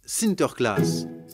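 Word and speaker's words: Sinterklaas: santa clara aux pays bas saint nicolas se prononcent sinter klaas et lorsque les néerlandais traverse l'atlantique au xviie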